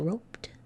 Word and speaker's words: roped: And we say roped, and you hear it as a T, but you have to know it's really that ED that's making that sound.